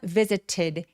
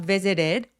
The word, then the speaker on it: visited: visited 할 때 왜 T가 굴러가냐면 visited 해도 되지만 T가 모음 사이에 끼어 있으면 굴러가는 플랩 T 소리로 낼 수 있기 때문이에요. 그래서 visited 혹은 visited 해주시면 됩니다.